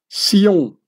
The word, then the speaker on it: Sion: And as the Templars originally spoke French, the French word for Zion or Zionist is still written with an S, pronouncing it as Sion or Sioniste.